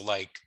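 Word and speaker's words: lii: So like the books would be les livres. Okay. You can spell it with 2 E's or you can spell it with 2 I's. Both would be pronounced as li.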